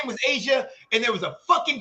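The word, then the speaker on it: A'ja: Her name, the way it's spelled, I don't see it as the same. It's still Asia. But it's not because the way it's still Asia. No, because it's pronounced Asia.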